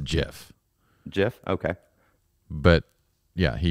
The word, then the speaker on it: GIF: is a gif and he shouldn't have used a g you use a j in that case is it is it